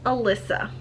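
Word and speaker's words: Alicia: did listen to it through audio it is pronounced Elissa and I will refer to her as such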